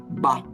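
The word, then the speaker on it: 八: Na China, o número 8 é representado e valorizado porque ele se pronuncia Ba e soa como Fá, riqueza.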